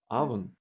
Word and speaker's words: oven: Только через много лет после того, как я эти слова выучил, я вдруг обнаружил, что в слове oven первая буква пишется O, но читается как А.